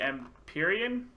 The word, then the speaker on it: Empyrean: So yeah, now on to the new guy, Orion, the Empyrean. Is that how you say it? That's right.